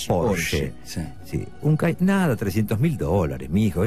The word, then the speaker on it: Porsche: Es alemán y se pronuncia Porsche.